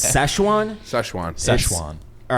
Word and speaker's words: Sichuan: it's Szechuan. Szechuan. Szechuan. All right, it's spelled Sichuin. So UAN, and you can see why I would pronounce it Sichuan because there's an I, not an A.